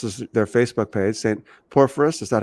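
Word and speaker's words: Porphyrius: Perus. Is that how you say it correctly? St. Purious Orthodox Church.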